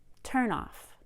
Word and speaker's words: turn-off: from phrasal verbs but with a phrasal noun we will stress the first word more than the second word cut off work out turn off let's look at phrasal